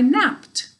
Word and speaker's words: napped: Napped is just one syllable.